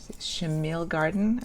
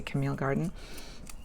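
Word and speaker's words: Chamil Garden: washi it was a chamill garden that's how you pronounce i always want to say camille garden and this one that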